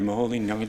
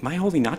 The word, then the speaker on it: Moholy-Nagy: telephone paging biting because Americans say my holy Nagi or moholy-nagy chicken you're like all these really badly pronounced Hungarian and Bernard was areas like what you just say my holy my holy not true my way not